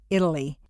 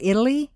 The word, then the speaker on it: Italy: A T in the middle of a staircase is pronounced as D, Betty, Italy.